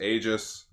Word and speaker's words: Aegis: Like it says Aegis, like it says EGIS, but then in quotes, it's like this is how you pronounce it. Okay. So it's Aegis.